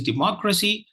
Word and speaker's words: democracy: So the word for today is democracy. And the second syllable is stressed. It's a 4-syllable word.